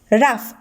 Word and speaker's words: rough: nephew next word raf here we can see the letters g and h these letters also pronounced as f but it is silent rough next the word paragraph